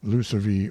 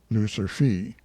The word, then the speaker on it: Lucivee: Lucivee, note that is Loup Cervier, or Canada lynx, but the hunters pronounce it Lucivee or Lucerfee.